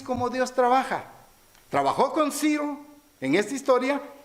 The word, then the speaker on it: Ciro: Así ha dicho, así ha dicho Ciro, rey de Persia. Fíjense bien cómo Siro se pronuncia.